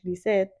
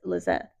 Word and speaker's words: Lizeth: And that's the English pronunciation of it. Like, I Yeah. don't even go by the Spanish pronunciation here. Like, whenever I go to Mexico, of course, I'll introduce myself as Lizeth. Um, but over here, it's Lizette.